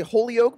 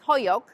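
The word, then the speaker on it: Holyoke: us a little bit about did you say Hoke Massachusetts well actually I'm not pronouncing it right it's hoyo hoyo hoo but it's spelled h o l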